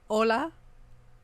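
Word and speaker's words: hola: You know what an H is a J is an H. Like ola spelled with an H, right?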